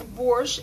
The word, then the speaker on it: borsch: interesting about borsch so in Russia in Ukraine in Belarus we pronounce borsch and right borsche like this and you foreigners somehow I don't know why pronounce borsch with tea burst why I don't know